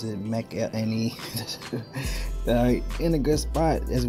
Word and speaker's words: McElhinney: That's how you pronounce it, McElhinney.